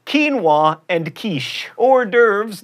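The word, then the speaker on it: hors d'oeuvres: like quinoa and kich or derves not hores duas and Penny not pen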